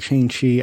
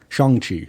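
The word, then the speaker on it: Shang-Chi: to do unless it's like you know like shane she i don't shang chi sorry that's how you pronounce it um i don't you know he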